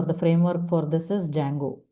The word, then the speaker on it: Django: Uh but the library or the framework for this is Django. D is silent. Django.